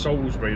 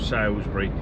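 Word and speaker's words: Salisbury: It's pronounced Ssbury, not Salsbury.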